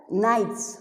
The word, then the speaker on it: knight: they used to have knights who used to fight they were knighted nitrate is not n-i-g-h-t-e-d it is k and like i told you the k is silent like in dawn it